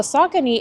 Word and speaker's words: Saucony: He kind of showed us how to pronounce it properly. So the Saucony, it's pretty good.